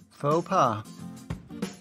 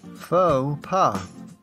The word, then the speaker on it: faux pas: Note that even though it retains its French spelling and seems like a French word, we pronounce it in an anglicized way.